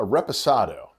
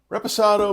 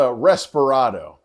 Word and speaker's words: reposado: vanilla Oak and honey is probably the most mispronounced of the three often called a respirado people it's tequila it's